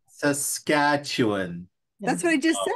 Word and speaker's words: Saskatchewan: like that Washington it's Saskatchewan it's just it's Saskatchewan Saskatchewan that's what I just said the capital of